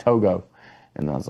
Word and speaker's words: Togo: Could you spell it for me?" T O G O. I was like, "Toggo." She's like, "Toggo."